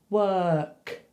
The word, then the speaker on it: work: Then for the other one, you just put a k on the end. Work. You don't even need to move your mouth.